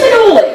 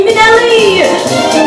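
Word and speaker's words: Minnelli: How often I remember someone saying, "There she goes, Lisa Minoli." Or Minoli, or Mineola, or Minoli, or Minoli.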